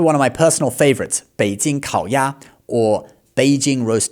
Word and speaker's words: Beijing: Beijing. It's third tone, then first tone. And roast duck is actually also third tone, then first tone, okay? So, it's Beijing kao ya.